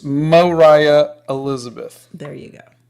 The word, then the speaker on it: Moriah: you're driving me crazy oh okay so it's Moriah Elizabeth there you go not Mariah um let's see so you you've heard of